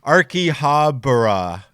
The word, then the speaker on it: Akihabara: And then Genzo said pronounced Akihabara. Oh, because I said it wrong. Akihabara.